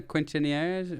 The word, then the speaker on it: quinceañeras: Okay, I added a couple syllables and pronounced the Q like a qu.